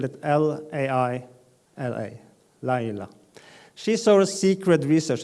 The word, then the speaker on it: Laila: Laila is we spell it L-A-I-L-A, Laila.